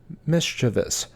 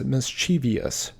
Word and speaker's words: mischievous: as mem number seventeen mischievous this is often mispronounced as mischievious number eighteen often this